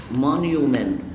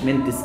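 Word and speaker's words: monuments: كالتشر يعني الثقافه كالتشر الاثار مونيومنتس الاثار يعني ايه مونيومنتس منس منطقش التي عشان بين حرفين ساكنين مش منتس لا منس مونيومنتس اثار هيستوريكال يعني تاريخي هيستوريكال يعني تاريخي.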